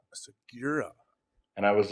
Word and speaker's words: Segura: actually because you know the name is pretty straightforward supposed to be pronounced phonetically which is sigura but my father and his father pronounced it and pronounced it sigura sigura and I was like